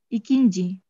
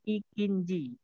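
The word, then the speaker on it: ikinci: İkinci. İkinci, oke. Okay. Di sini kan untuk iki ya. Jadi iki ditambah inji. Itu kan i-nya ada dua. İki, inji. Jadi dihilangkan satu aja. Jadi ikinji.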